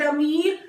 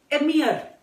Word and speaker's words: Emir: And you'll find people calling it Amir. It is not Amir. It is generally pronounced as Emir.